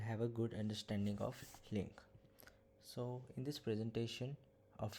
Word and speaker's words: LINQ: stands for language integrated query and it is pronounced as link so as we know that nowadays the use